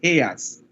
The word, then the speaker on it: Hertz: porque es un apellido alemán, es Hertz. Entonces, ese físico alemán dio nombre, o sea, tomó el nombre, pues, de frecuencia, esa unidad de frecuencia que es Hertz, HZ, ¿verdad? Entonces es Hertz. Nosotros pronunciamos Hertz, porque acuérdense que también es una de alquiler, ¿no? Una casa, alquilan autos aquí en Panamá, Hertz. Pero Hertz es como ustedes.